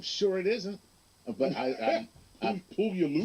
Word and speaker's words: Puyallup: That's probably not how you pronounce it. I'm sure it isn't, but I'm Puyallup. Puyallup.